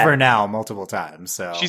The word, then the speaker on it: Vernal: Like it should be Vernal, right? Because it's the vernal equinox. She specifically says Vernal multiple times.